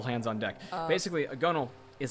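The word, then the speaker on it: gunwale: whale gun oh but it's pronounced gunnel cuz that's how sailors say it hey wait did I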